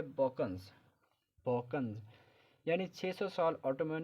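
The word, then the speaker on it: Balkans: ये word बाल्कन्स नहीं है, ये वर्ड है बॉकन्स।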